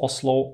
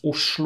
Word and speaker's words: Oslo: name Christiania by the way Oslo is not pronounced Oslo at all it's pronounced USU or um if you want to learn more